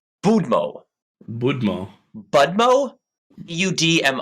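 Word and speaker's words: Будьмо: this word before it's budmo bumo Mo DM o apparently they have a vodka named after it oh okay uh okay the D has to be pronounced softly you can listen to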